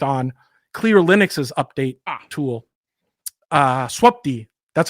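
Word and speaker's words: swupd: So I sat down with Tim Pepper, who he had worked on Clear Linux's update tool, swapd. That's how you pronounce that, by the way.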